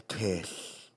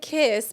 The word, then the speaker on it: Kiss: This is a story of Bela Kish. and let me tell y'all, it sounds like kiss, but it's pronounced kish.